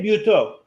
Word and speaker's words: Buteux: And our other guest is, and I'm going to get last name wrong, so I'm going to let Nico say it. Buteux.